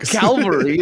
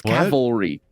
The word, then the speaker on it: cavalry: the calvary is it's tank not Calvary that's that's a mount in in in Judea or whatever that's Cavalry yeah Calvary is a